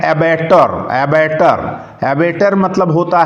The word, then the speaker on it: abattoir: ऊपर जो मैंने शब्द बताया एबेटर, उसका स्पेलिंग होता है ABATTOIR, एबेटर।